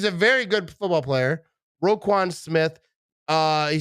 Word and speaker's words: Roquan: do you say his name yeah right smith roquan right yep i i thought i would say